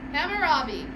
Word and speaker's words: Hammurabi: right you're saying it right him hammer Robin Hammurabi we talked about Hammurabi on Monday and I I'm gonna just pause and ask does anyone have any things you wanted to say about Hammurabi observations about that thoughts about our our activity